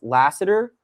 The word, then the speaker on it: Lassiter: With Stingley gets a lot of the headlines, but I mean, I think his last name is Lassiter.